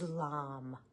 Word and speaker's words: Lam: sound Bea Mantra which means it's the one syllable uh most basic mantra for that energy in this case the chakra is lamb l m now one of the things I